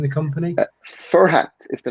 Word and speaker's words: Furhat: Furhat, am I mispronouncing the company? Furhat is the name of the company.